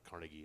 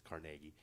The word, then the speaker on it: Carnegie: it out i've been told that's the proper pronunciation's not carnegie that's what we say out here but it's carnegie but anyway uh this has lenny on it